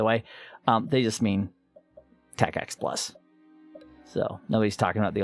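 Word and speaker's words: TACACS+: axe tacx plus so today this one says tacacs which is how you pronounce it by the way um they just mean tech x plus so nobody's talking about the old tacx these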